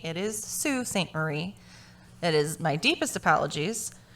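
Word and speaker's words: Sault Ste. Marie: brought to my attention two things that i mispronounced the name of the town that bob dale went missing from it is not salt saint marie it is sue st marie it is my deepest apologies some people were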